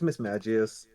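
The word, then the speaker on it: Mismagius: Miss Magius or Miss Magius. Yeah, I feel like I can think of three ways to say it. I don't know what the right one technically is. It's Miss Magius.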